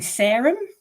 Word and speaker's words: Sarum: book and the uh narrator keeps saying serum which I didn't think it would be pronounced but it's an old name for soulsbury so oh is it